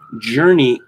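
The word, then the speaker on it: Jurnee: from newsbusters lovecraft actress journey smallit tweeted out the words when the episode first aired in october and journey of course is spelled j-u-r-n-double e small it sister two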